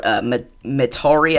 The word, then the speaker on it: Metairie: This is for Metairie, I think that's how we were said to pronounce it, in Kenner, along I-10 and Highway 61.